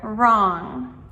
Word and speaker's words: wrong: And finally, number 10, the silent W letter. So, in words like wrist or write or wrong. All of these words start with a W and R together.